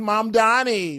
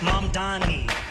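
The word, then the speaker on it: Mamdani: The name is Mom Donnie. M-A-M-D-A-N-I. The name is Mom Donnie. M-A-M-D-A-N-I. Okay, the name is Mom Donnie. But go learn how to say it.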